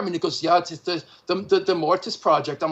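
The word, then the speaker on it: Mortiis: true because i was into mortise and i'm sorry mortis as i just discovered that's the way you pronounce it because same here man himself same group i know he shouldn't have spelled it with two eyes if he didn't want us to say it that way it's that's it's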